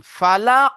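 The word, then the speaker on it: فلق: রব্বিল ফালাক ফালাক লাস্টে কফকে কলকলা করতে হবে ফালা পড়েন জাকির ভাই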